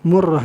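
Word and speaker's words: مرة: Yaitu bidhamil mim, dengan dhammah mim, wa syaddir ra'i, dan tasdid ra. Murrah gitu kan.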